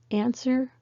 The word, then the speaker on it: answer: all silent w words be careful with these three words answer sword two don't say the w so why is it